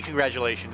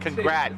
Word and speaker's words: congratulations: Does it have a T or a D, congratulations? It sounds like congrat. People say congrat, but you say congratulations like a D. It doesn't always sound like a D, congratulations. It's a G even.